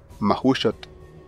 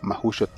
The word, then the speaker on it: Mahuxotl: La letra X se pronuncia como SH, sh, y en la terminación TL se pronuncia la letra T y la L es sorda.